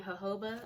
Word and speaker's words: jojoba: includes pink grapefruit and jojoba I hope I'm saying that right I know you don't pronounce the J it's a ho but I think oh